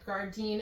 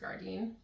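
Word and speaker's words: Gardyn: We've tested the Gardine, and I could be saying that wrong. It's G A R D Y N. It seems like it's pronounced garden home um model.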